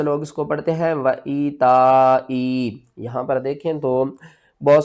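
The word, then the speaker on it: وَإِيتَاءِ: سب سے پہلے اس کے ہجے کر لیتے ہیں. واو زبر وا، حمزہ یا زیر ای، وَإِی. یا ساکن سے پہلے زیر ہے، حروف مدہ ہے، 1 الف کے برابر کھینچ کر پڑھیں گے.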